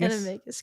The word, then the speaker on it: Animagus: Yeah, Animagus. Animagus.